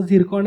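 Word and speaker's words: Циркон: म्हणजे प्रोनाऊन्स त्याचं झिरकॉन आहे, स्पेलिंग त्याचं ट्रिस्कॉन्स असं आहे.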